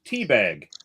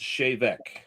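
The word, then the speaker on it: Té Bheag: in the Gaelic it looks like it's called teabag. Oh teabag it is actually pronounced shavec.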